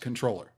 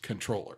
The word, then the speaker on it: comptroller: in the French so if you pronounce it with that in mind you wouldn't pronounce the P you it would be just controller okay and most in